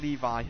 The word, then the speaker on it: Levy: Anyway, it's pronounced like Levi. Alright, Barrington Levy, just like the jeans.